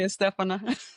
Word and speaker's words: Estefana: you could say Estefana. And so no one ever pronounces my name right because it Yes.